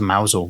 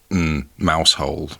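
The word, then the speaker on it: Mousehole: for any of them I'm pronouncing it mausole because it's written mouse hole it is mouse it does look like a mouse hole but surely that can't be right if you're driving on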